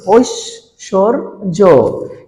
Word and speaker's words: ঐশ্বর্য: আর অন্তস্থ জ থাকলে আমরা জানি বর্গীয় জ হয়, তাহলে এটার উচ্চারণটা কি হয়ে গেল? ঐশ্বর্য।